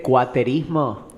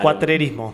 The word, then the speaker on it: cuatrerismo: el sistema capitalista y cono se dice cuaterismo. Claro, cuatrerismo.